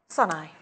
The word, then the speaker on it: Sané: Sunai. Say that again? It says sun, as in S-U-N, and then E-Y-E, as in how to say it, because it's spelled Sané, isn't it?